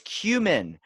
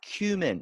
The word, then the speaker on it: cumin: human or cumin it's cumin it's not cumin do you remember Drake and Josh when the one thing the dad was allergic to that's cumin and that's the Taco Bell spice that's not how it's spelled that's how it's spelled it spelled cumin it's dynamically maybe kinetically there was no there's no cue in there finally here's the